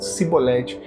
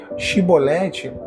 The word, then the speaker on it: chibolete: Tem muita gente falando cibolete. Chibolete é a palavra do quebrantado, é a pronúncia do quebrantado. Já cibolete, a língua ela denuncia a origem.